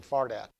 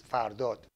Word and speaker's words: Fardad: My name is Fardad. When I speak English, I say Fardad, but the correct pronunciation is Fardot.